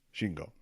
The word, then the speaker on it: Shingo: different, but for like the romanization or the romanji of the Japanese sounds, is it just be S-I-N-G-O, and that's pronounced Shingo?